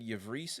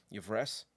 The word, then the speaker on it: Yvresse: this first one especially i always said yavris in my head but i feel like with the the way that as y-v-r-e-s-s-e very elven difficult for a human to pronounce i'm going to say it everest today or everest uh just because i feel like with the s's and e's the way they are you've reese there should be two e's instead of